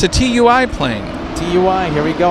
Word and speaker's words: TUI: It's not that, it's ti. It's tui. Tui.